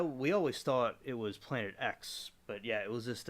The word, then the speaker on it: Planet X: is pronounced in letter as opposed to Roman numeral 10 I didn't know that well I we always thought it was Planet X but yeah it was